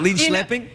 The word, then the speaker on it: Linköping: That's what they teach you, is how to pronounce names. Linköping. I learned a few things in Linköping. Is it Linköping?